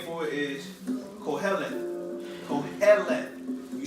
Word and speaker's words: Kohelet: The meaning, the Hebrew name for it is Kohelet. Kohelet. You spell that like this. Q-O-H-E-L-E-T-H. It means preacher. Preacher. Strong's 6953. Say that one more time. Strong's 6953. Kohelet. Everybody say Kohelet.